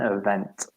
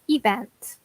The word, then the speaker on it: event: planning and promoting an event. Excellent. And guys, be careful with pronunciation. I hear this pronounced a lot as event, but the stress is actually on the second syllable, event.